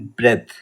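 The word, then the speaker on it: breath: लगाना होता है ओके ब्रीद होता है that is verb ब्रीद एंड ब्रेथ ब्रेथ is noun okay ब्रेथ को नाउन के रूप में प्रयोग किया जाए तो बी आर ई ए टी एस ब्रेथ pronounce करेंगे और ब्रीद वो वर्ब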